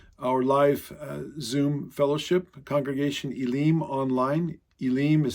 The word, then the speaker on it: Elim: They came to Elim. Some people pronounce it as Elim, but in Hebrew it would be Elim.